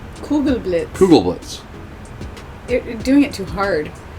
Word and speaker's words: Kugelblitz: apparently no but you're you're pronouncing too much america it's too hard blitz the ghoul is